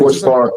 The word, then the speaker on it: QRTZBAR: Quartz Bar.